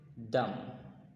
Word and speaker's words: dumb: বোবার ইংলিশটা হচ্ছে ডাম, ডাম, DUMB। এখানে বিটা সাইলেন্ট থাকবে, এটা একটা সাইলেন্ট লেটার।